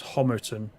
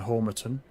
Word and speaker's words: Homerton: I think you said, Peter, I pronounced this Homerton rather than Homerton.